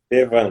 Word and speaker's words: Estevan: É Estevam ou é Esteban? Estevam mesmo, tá correto, Camila.